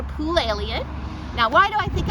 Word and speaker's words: Poulalion: my name is Poole you probably still can't remember how to pronounce it so I'll give you the trick think of an jumping in a pool that's pool Elliott now why do I